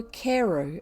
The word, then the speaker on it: Crewe: difference in the name madame pascal pronounced it as if it were cairo instead of crew but that might be merely a matter of pronunciation the circumstances were curiously